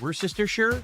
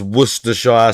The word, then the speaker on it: Worcestershire: I taste sodium, and I taste Worcestershire.